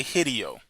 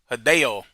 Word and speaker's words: Hideo: I don't I be want to say Hideio, but I know it's not pronounced like that. It's pronounced Hideo. Hideo Cojima.